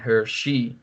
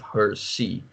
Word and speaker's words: Hirsi: lots of people in the netherlands also still mispronounce her name as ayaan Hirsi Ali instead of her see so I don't know how much influence that